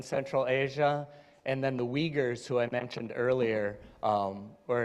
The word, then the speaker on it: Uyghurs: So I'm going through pronunciation too. All the nations. Yes, Israelis, Punjabis, Tibetans, and Uyghurs. That's Uyghurs.